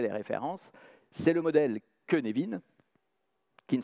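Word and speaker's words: Cynefin: mesure vous aurez les références c'est le modèle kenevin qui ne s'écrit pas queenevin qui s'écrit sinefine c'est y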